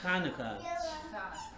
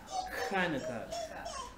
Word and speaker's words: Hanukkah: Let me, So again, it has that het sound, so it's Hanukkah. Hanukkah. It's something a little bit difficult for us English speakers to pronounce.